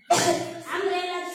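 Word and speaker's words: umbrella: umpire अन umpire कळलं अम्ब्रेलाची spelling सांगा कोण सांगतय यू यू ए अम्ब्रेला यू एम बी आर E double L ए अम्ब्रेला बघा यु यु चा उच्चार कसा झाला आहे अम अम्ब्रेला अम्ब्रेला म्हणजे यु एम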